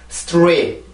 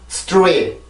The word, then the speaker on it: straight: straight. 다시 한번 straight. 자, 그러면 지금 여기 있는 T 발음이 R 발음에 영향을 받습니다. 무슨 얘기냐면, R 발음이 음절을 시작을 해줄 때는 입술이 이렇게 나오게 돼요.